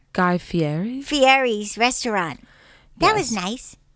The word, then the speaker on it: Fieri: our how do you say his last name Ferrar Guy Fieri Fieri's restaurant that was nice that was nice